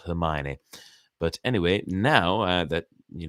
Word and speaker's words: Hermione: but I pronounced it her Moyne her moines granger sir for the longest time i read it as her Moines not Hermione but anyway now that